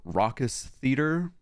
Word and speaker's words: Raucous Theater: And then our most important land is the Raucous Theater.